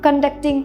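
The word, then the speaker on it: conduct: भी हो, तो उसे कंडक्टिंग a meeting, कंडक्ट। सेकेंड syllable पे हम स्ट्रेस कर रहे हैं कंडक्ट, यहाँ पे कॉन्टैक्ट।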